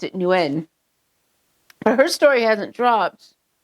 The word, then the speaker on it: Nguyen: But up here, so I went to school with there's a huge Vietnamese community up in my area. And everybody I know pronounces it Wen.